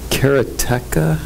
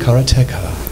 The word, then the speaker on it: Karateka: mine sniped sorry but isn't it carrot tech you pronounced it Cara tech yeah I'm especially a